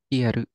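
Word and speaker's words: 消える: How is this guy pronounced? With the eru? Kieru.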